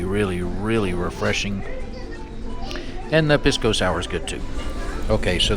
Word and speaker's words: pisco sour: It's called a pisco sour, or pisco sour if you say it like they do.